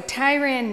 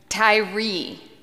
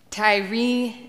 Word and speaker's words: Tyre: in his letter so Tyran Nichols did I say it right tell me how to say it Tyree Tyree Nichols I'm assuming at this